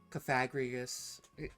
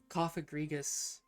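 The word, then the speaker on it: Cofagrigus: don't say it that often, but anyways, uh, Cagrigus, see, you have to say, you have to be saying it on purpose. I was saying his name though, so don't you know. Kofagrigus.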